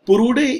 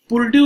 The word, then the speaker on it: Purdue: अब पुरुडे यूनिवर्सिटी जो अमेरिका की है, again I repeat पुर्ड्यू university, PURDUE, pronunciation थोड़ा ध्यान रखना, प्रोनाउंसिएशन पुर्ड्यू यूनिवर्सिटी जो यूएस की है, उसने